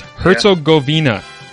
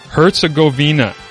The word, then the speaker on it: Herzegovina: on the entire board for you okay it's herzogovina herzegovina okay here's the pronunciation herzegovina herzegovina sound it out my man